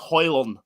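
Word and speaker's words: Haaland: first name no Rasmus you don't pronounce the d there's a whole video he does you know he loves the D It's hoylan okay but listen I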